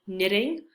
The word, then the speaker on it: knitting: If you see a KN at the beginning of a word, like knitting, we do not pronounce the K.